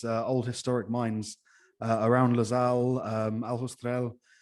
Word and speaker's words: Aljustrel: I love, as you travel around Portugal, it's full of these old historic mines around Losal, Aljustrel, which I keep pronouncing the J in a Spanish way, so you'll have to correct me every time.